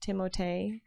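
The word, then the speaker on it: Timothée: timothy shallow may's name you're supposed to pronounce timothee yeah oh damn i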